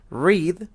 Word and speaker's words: read: Read no cambia su escritura en pasado, pero se pronuncia read.